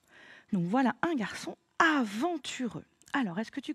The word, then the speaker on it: garçon: La cédille me permet de transformer la lettre C de façon à pouvoir faire le son S, puisqu'après, j'ai un O, donc normalement, ça devrait faire garcon.